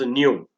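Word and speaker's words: ν: is denoted the symbol new so this is a symbol frequency it is pronounced as new and it is measured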